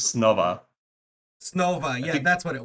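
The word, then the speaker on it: Снова: But it's not Choba because it's Cyrillic, and I have no idea how you actually pronounce it. But I think it was Snova.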